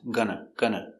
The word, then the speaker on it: gonna: Going to, we pronounce gonna. For correct pronunciation of gonna, make it very short and very close, not open, close.